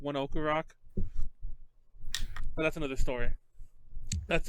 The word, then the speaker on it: ONE OK ROCK: That everyone says one OK Rock, but they're actually pronounced one Oku Rock.